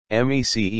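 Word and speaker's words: MECE: arise at the client m e c e m c m e c e pronounced me c stands for mutually exclusive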